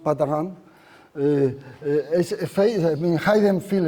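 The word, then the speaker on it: Patarin: So this is French, so it's pronounced Patahan.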